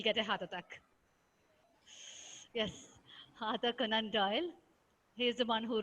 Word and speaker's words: Arthur Conan Doyle: Other Arthur, Arthur, Conan, Arthur, Arthur C Conan O Doyle.